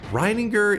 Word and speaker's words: Rininger: Rininger is the correct way to say it.